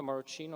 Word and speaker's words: Maruccino: um my name is maruccino or moroccano depending if you pronounce it with the sort of english english accent and here today i'm